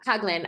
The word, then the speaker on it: Hagelin: And, if you look at, you mentioned John Hagelin, is that how, did I pronounce that correctly? Haglin, right? Yep. Yeah, Hagelin.